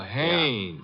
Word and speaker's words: Haynes: Oh, Haynes. Yeah, do you know him? Well, there's a fella named Hines used to fish out here. No, not Hines. Haynes.